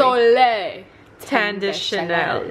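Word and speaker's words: Soleil Tan de Chanel: Soleil Tende Chanel.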